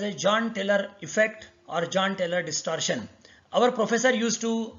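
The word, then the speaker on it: Jahn–Teller: John Taylor effect or John Taylor distortion. Our professor used to pronounce it as Jan Taylor distortion. He used to say that this J should be pronounced as Y.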